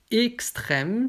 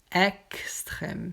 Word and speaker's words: extrême: Donc ici, je peux dire extrême, c'est aigu, ou alors extrême, c'est grave.